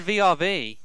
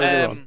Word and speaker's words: VRV: always said VRV. Anyway, It's Well, Verve.